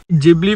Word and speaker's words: Ghibli: जिब्ली photo या गिबली photo आप दोनों तरीके से प्रोनाउंस कर सकते हो क्योंकि जिबली जैपनीज़ में कहते हैं।